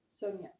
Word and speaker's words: Sonja: Sonia. How in the hell did I misread that? The J is silent.